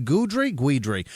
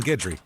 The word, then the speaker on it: Guidry: Cody Murray, Clay Paisley, The Blind Mamba, Rachel Davis, Sarah Jane Guidry. It's probably Guidry. It's spelled like Guido with dry at the end. Like Guidry, like Ron Guidry.